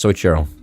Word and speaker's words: Soichiro: How do I fucking pronounce that? Dude, I'm not gonna lie, I've never been good at... Soichiro. It's Soichiro.